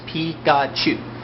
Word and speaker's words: Pikachu: the Pokemon series Pikachu Pikachu is actually how you say Pikachu's name in Japanese P God chew and that's three letters